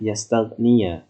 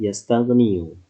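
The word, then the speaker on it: يستغني: Sekarang, kita harus membacanya "yastagniya" karena ada partikel "an." Awalnya adalah " yastagniu," tetapi karena ada partikel "an" yang berarti nasab, maka artinya adalah "yastagniya."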